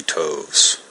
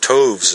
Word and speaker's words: toves: how to pronounce slithy toves the eye in slythe is long as in writhe and toves is pronounced so as to rhyme with groves again the first o